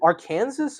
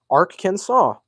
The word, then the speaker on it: Arkansas: How do you say it? Is it our Kansas or Arkansas? Because I've always had a very very um a very large tendency to say Ar Kansas, but I don't know. Ar can arc saw. Yeah, I guess. All right. I guess that is how you say then Ark can saw.